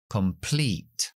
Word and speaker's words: complete: y o puede ser una palabra de dos sílabas como completo esa penúltima e es la i larga complete también los equipos de